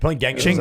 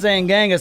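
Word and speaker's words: Genghis: got to us and we pronounce everything with a hard G exactly we [ __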